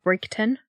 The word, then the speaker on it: Bridgeton: She lived in Bridgeton, which is sometimes pronounced Brigton.